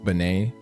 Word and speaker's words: Benet: Benet. Just pronounce Benet like Eric. Benet.